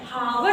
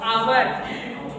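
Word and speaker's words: hour: आवर आवर ठीक है हावर नहीं पढ़ोगे क्या पढ़ोगे आवर नेक्स्ट इको इ चो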